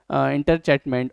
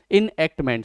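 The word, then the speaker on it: enactment: in 2009 with the interchatment of the Right of Education Act. Enhancement है ना, इनएक्टमेंट, sorry ये जो लिखा है ना इनएक्टमेंट लिखा हुआ है, मैंने इसको गलत प्रोनाउंस कर दिया।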